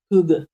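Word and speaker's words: hygge: I love to do a Hackett Hooga. Do you want to say Hooga in the most best Danish way? Hooga.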